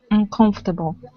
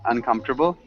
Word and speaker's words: uncomfortable: You're saying fort, uncomfortable. So you've got 4 syllables, or you've got 5 syllables. We just want 4. So uncomfortable.